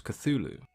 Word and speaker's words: Cthulhu: previous video about Lovecraft Cthulhu was actually meant to be pronounced in an alien tongue Lovecraft himself used several